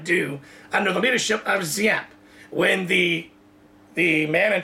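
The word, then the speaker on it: Giáp: the general vonian zap giap pronounced zap he did The Impossible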